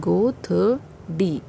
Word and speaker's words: godri: A godri, it is pronounced as a, this one, godri.